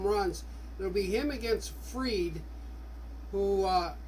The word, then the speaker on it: Fried: it'll be him against Fred who uh you want to pronounce his name fried but I think it's Fred so the Cubs will